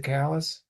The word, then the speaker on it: Sakalas: And I've got Jim's I'm sorry, am I pronouncing it crazy? Is it Sakalas? Yes, that's correct.